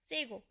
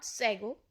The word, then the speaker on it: sago: सेगो, इट इज़ नॉट सेगो। बहुत लोग इसको सेगो प्रोनाउंस करते हैं, बट इट इज़ सेगो। Sago.